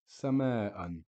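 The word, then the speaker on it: سماءً: Sama'an, again with one fatha, we would pronounce it as sama'a. But with double fatha, it's sama'an.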